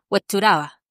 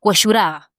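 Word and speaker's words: Huechuraba: Te dicen huachuraba. Entonces te cambian la pronunciación mientras que tú vas a una población humilde y te dicen hueshuraba. y en el término medio te dice huachuraba.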